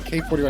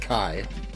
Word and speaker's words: K41: Yeah, I believe that's not K41, I believe that's pronounced Kai. Like elite speak.